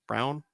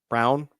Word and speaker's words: Braun: Brown. Christian Brown. I forget. It's spelled Braun.